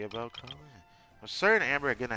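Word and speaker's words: Collei: I really wish the way you say her name is Kole though, because Kole sounds cuter. But it's Kali.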